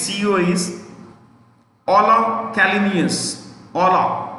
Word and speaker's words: Ola: Ola. O-L-A.